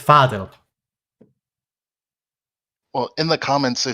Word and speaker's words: Fadil: So it's Fadil.